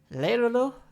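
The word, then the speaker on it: Lero-Ro: Leirolo, that's how you say his name.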